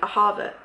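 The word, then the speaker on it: אהבה: But the pronunciation is something like Ahava or Ahava, with the stress on the second syllable.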